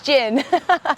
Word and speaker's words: Jin: you also thank you I even mispronounced your name j Jin it's Jin which is cool Jina